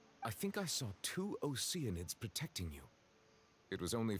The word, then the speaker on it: Oceanids: It's pronounced Oceanids. I will hear no other pronunciation.